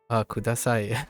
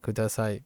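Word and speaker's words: ください: That's an interesting way of looking at kudasai. Please give me. Or please, right? You know that the kanji right, ka, we know that as ka means down, and sai sounds like the word sigh.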